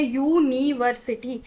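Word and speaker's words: university: तो आर्टिकल आपको पता है साउंड पे डिपेंड करता है। स्पेलिंग पे बिल्कुल भी डिपेंड नहीं करता। तो यूनिवर्सिटी की जो प्रोनाउंसिएशन होती है वो हो गया यूनिवर्सिटी। यानी कि यहां पे जो पहला साउंड है वो आपका आ रहा है वाई जो कि आपका कंसोनेंट का साउंड होता है।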